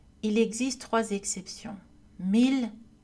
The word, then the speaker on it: mille: Il existe trois exceptions, mille, ville, tranquille. Ces mots ainsi que leurs dérivés, million, village, tranquillité, etc., sont prononcés avec le son L. Mots dérivés de mille villes tranquilles.